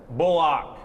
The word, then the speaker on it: Bullock: Oh, and also, how do you say your last name? Bullock. Bullock, so everyone's getting it wrong.